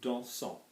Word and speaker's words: dansons: Now look at this O-N-S, there's no E after this S, there's no vowel after this S. So like I've said before, you don't pronounce the S.